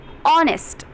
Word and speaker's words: honest: Here also we are saying honest. It is starting from O, which is vowel, but H is silent here.